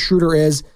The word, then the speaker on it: Schröder: dots if those of you don't know Dennis shuder by way of Germany from nailing that by